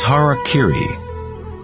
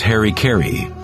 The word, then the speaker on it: harakiri: suicide or seppuku was harakiri was often mispronounced as Harry Caray it means to impale